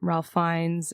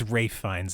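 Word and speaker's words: Ralph Fiennes: Once again, it's Rafe Finds, everybody. I know it's spelled Ralph, but it's Rafe.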